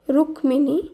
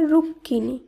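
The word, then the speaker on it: রুক্মিণী: এর শুদ্ধ উচ্চারণ যক্ষ রুক্মিনী কিন্তু সেটি শুদ্ধ নয় এর শুদ্ধ উচ্চারণ হবে রুক্কিনী অধকার অন্তস্থ এর শুদ্ধ উচ্চারণ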